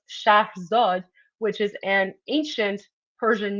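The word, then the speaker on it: Scheherazade: And in fact, the princess's name, you guys say Shaherzad, um, it's actually pronounced Shah Zod, which is an ancient Persian name from the Persian Empire.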